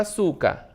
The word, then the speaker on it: açúcar: Açúcar, né? Quando eu separo a palavra açúcar, açúcar, né? 3 sílabas. A sílaba tônica é o su, né? Su, que é a mais forte.